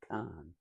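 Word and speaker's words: Kahn: I sometimes mispronounce it, Irving, and it's not. It's Bergen Khan K Ahn well-known developer had bought the pen skeos and I think it was about 1962.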